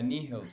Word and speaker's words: Nihils: love it pre-release yeah how is neos pronounced okay so i basically answered the question with the reading the question but uh yeah nihils so whenever radio presenters